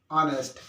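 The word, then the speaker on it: honest: देखो ये वर्ड मैंने यहाँ लिख दिए, ये एच से तो स्टार्ट है, बट एच इन B silent and just after a letter H, इनसे साउंड हमारा शुरू हो रहा है, क्लियर।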